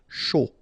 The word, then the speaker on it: chaud: Chaud. Final D not pronounced, and then when you combine this C and H, you get the sh sound. A and U, O. Chaud. Important.